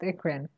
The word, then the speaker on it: eccrine: I just know that it's pronounced ikrin.